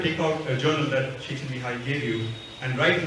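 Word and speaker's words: Mihaly: And this gentleman on the right, his name is Mihai, that's how you pronounce it.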